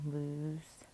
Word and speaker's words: loose: and lose okay um this does have kind of that ooh sound loose and we have that silent e here so it doesn't look plural right we've talked about that if you just have that s at the end it might look plural so that's why we have that silent e there okay the s is not making the z sound in between two vowels that's why it